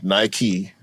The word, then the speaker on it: Nike: It's named after the Greek goddess of victory, who is named Nike. That's how it's spelled. That's how it's pronounced, rather. And Nike was founded in the United States of America.